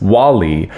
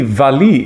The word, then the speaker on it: Wally: The title of the opera looks like it should be pronounced Wally, but actually Valli is the nickname of the title character, Walburga, obviously.